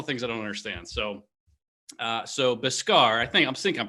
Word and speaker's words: Beskar: Let's go with I think it's pronounced Biscar. Okay, Biscar.